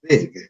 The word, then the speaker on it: big: Tengan cuidado con la terminación, en este caso la G, que no se pronuncia, no es una raspada, sino es una G de gato, ¿no? Como cuando decimos gato, porque si lo hacemos raspado, como la mayor parte de las personas lo pronuncia, vamos a decir big, big, pero no es así, ¿no? Es una G de gato, big.